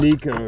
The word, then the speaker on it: Nikko: How do you pronounce Is it Nikico? Nico. Yeah, like the Nico rig.